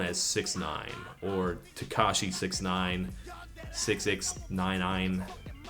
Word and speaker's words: 6ix9ine: His name is Daniel Hernandez, better known as 6ix9ine, or Tekashi 6ix9ine, 6ix9ine. It's not pronounced 69 for the record, so you can save your nice jokes.